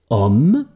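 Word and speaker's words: homme: ich Hus will om om heißt Mann Mensch und das hat ein stummes h die Aussprache ist tatsächlich om und deswegen nehme ich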